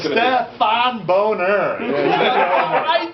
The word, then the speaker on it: Stephan Bonnar: Stefan still Stefan St still stepan it's always Stefan boner one time one time you know when he